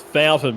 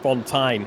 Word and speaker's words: Fountain: Yeah, well, he said that officially the correct pronunciation of his name is Fountain, but he likes Fontaine. He reckons that it sounds more sophisticated.